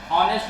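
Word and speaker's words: honest: ऑनेस्ट मतलब, ऑनेस्ट मतलब क्या जाएगा, आ है ना जी, ऑनेस्ट मतलब क्या जाएगा, ए ना जाएगा। कैसा उच्चारण हो रहा है, अ का उच्चारण हो रहा है, किसका उच्चारण हो रहा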